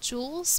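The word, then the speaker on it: joule: feel cold to you the units for heat are called Jewels but it's spelled differently from like a diamond Jewel it's named after a scientist and then sometimes we'll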